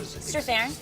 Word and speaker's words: Strathairn: Strathairn.